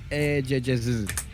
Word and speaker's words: eGGz: He goes by the name of Eggs. Emphasis on the GG. eGGz. That's how you pronounce it.